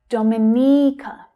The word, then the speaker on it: Dominica: Now be careful here. The stress is actually on the third syllable. Dominica. It's the long E vowel sound, as in she. Dominica, Dominica. So the other syllables reduce down.